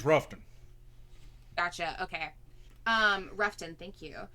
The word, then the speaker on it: Rutherfordton: You say Ruffton. Oh, Ruffton. Okay. It's Ruffton. If you go down there and you say Rutherfordton, they will stab you. It is. Leicester here. Yeah, it's Ruffton.